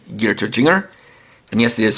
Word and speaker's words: GearTozinger: gear linger has been switched after one saying geared to jinger and yes it is spelled with a z for stylization purposes and